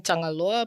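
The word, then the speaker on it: Tagaloa: for um tonga so same thing tangaloa but different spelling so in our one it's t-a-g-a-l-o-a which is pretty much the same yeah because you can pronounce ng and g as na yeah yeah like yeah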